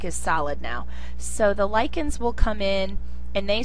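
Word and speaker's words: lichens: one of the biggest examples would be um lyans it's not lens it's pronounced as a k so lyans and these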